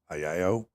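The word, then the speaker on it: アヘ顔: It's, I believe you pronounce it Agao.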